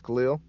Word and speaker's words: Khalil: Again, this is uh my real name is Khalil, you know, like Superman. Uh, that's what they call me for short cuz a lot of people can't pronounce my name.